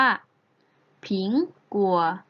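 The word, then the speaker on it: 苹果: คือ แอปเปิ้ล นั่น เอง Apple ใน ภาษา จีน แล้ว จะ ออก เสียง ได้ ว่า ผิง กลัว ผิง กลัว ผิง กว่า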